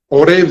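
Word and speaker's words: עורב: Çünkü orev deriz kargaya, İbranice'de orev deriz. Orev. Ayin, vav, reş, tamam, bet harfleriyle yazılır. Orev diye okunur, anlamı kargadır.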